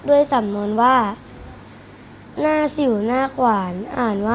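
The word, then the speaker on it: หน้าสิ่วหน้าขวาน: รู้ ด้วย สำนวน ว่า หน้า สิ่ว หน้า ขวาน อ่าน ว่า หน้า สิ่ว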